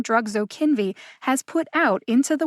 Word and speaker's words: Zokinvy: pretty straightforward to say the middle syllable kin gets the emphasis so kinvi zo kinvy now how did i